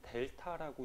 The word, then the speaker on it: 델타: 그리고 변화량은 이렇게 세모로 표시해주고, 요거 읽을 때는 델타라고 읽어주시면 돼요.